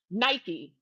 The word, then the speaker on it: Nike: It is a Nike Yeah. swoosh, but Nike's word mark is Nike, or how the British pronounce it, Nike.